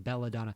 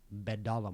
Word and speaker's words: Bedalla: I keep saying Belladonna. Louis Belladonna Morgan. No, it's just Louis Bedalla Morgan.